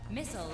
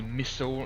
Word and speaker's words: missile: How come Americans say missile instead of missile? Although I have heard some Americans say missile, but most of them say missile.